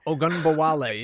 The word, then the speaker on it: Ogunbowale: Ogunbowale? Ogunbowale, yeah.